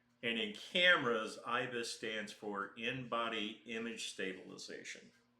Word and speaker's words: ibis: Yeah, it's called ibis, and it's there's a bird called ibis. Um Oh. And in cameras, ibis stands for in-body image stabilization.